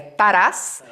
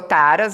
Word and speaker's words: Taras: as pessoas perguntam muito pronúncia correta seria tharas na e ficou Taras abrasileirado e tal e tá